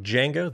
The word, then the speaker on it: Django: the podcast with defi Jango the D is silent how you doing welcome